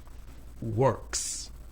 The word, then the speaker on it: Works: Work ends in k. The sound k is voiceless. Works.